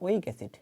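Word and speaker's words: oic acid: বলবো আমরা carboxylic এসিড এর উচ্চারণ হচ্ছে ওইক এসিড ওইক এসিড এটাও একটা যৌগে সবার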